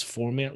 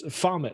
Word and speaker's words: Foment: You know, I've always gotten his name wrong. I thought it was Forment Life. Yeah, me too. It reads weird. I know. So it's Foment Life.